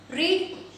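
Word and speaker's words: read: क्या होता है, रीड, रीड का थर्ड फॉर्म जो होता है रीड, रेड, रेड, spelling same है गाइस, रीड की स्पेलिंग जो है सेकेंड फॉर्म की भी सेम है एंड थर्ड फॉर्म की भी सेम है, बट प्रोनाउंसिएशन जो है वो डिफरेंट होगा, प्रोनाउंसिएशन अलग हो जाएगा, आपको पढ़ना है रीड, रेड, रेड, second form में रेड पढ़ा जाएगा एंड थर्ड फॉर्म में रेड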